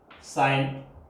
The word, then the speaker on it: sine: It's full name is साइन, pronunciation is same but spelling is different.